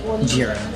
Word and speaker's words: gyro: I heard them pronounce it gyro, so we're going to stick with that.